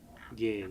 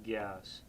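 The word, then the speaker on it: རྒྱས: So R-G-Y-A-S, ge, song ge, not gyas.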